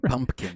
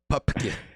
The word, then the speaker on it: Pupkin: And they always mispronounce his name, Pumpkin, but it's Pupkin.